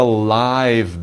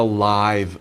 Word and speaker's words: live: It's a live band. But if you say it as a verb, it's live. So live, live.